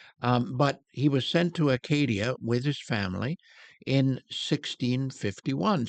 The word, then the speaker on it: Acadia: They had a province or whatever it was called Acadia, or am I getting that right? Acadia.